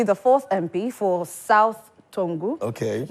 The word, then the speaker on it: Tongu: the MP for South Tongu, Honorable Maxwell Lukutor. Good morning, Honorable. Good morning. It's South Tongu, not Tongu. You don't pronounce the G.